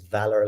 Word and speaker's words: VALR: co-founder and ceo of valor v-a-l-r uh a lot of people pronounce that in different ways but the way to pronounce it is valor like courage or value or things